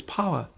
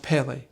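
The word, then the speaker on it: פלא: The Hebrew word for wonderful is pala, sometimes written or pronounced pele, which indicates something uncommon or out of the ordinary.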